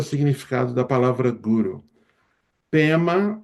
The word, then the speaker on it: Pema: PEMA é o é a pronúncia tibetana para padma que significa lottus.